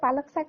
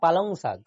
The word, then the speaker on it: পালং শাক: কিচ্ছু জানে না মেয়ে এটা পালং শাক বলে পালংক শাক তো বলেনি পালং পালং শাক আমরা পুরুলিয়ার ভাষায় কি বলি পালংক শাক না আমরা পালং শাক বলি কিন্তু একচুয়ালি এটা উচ্চারণটা হবে পালং শাক হ্যাঁ ওটাই জানি তো পালং শাক আমরা এমনি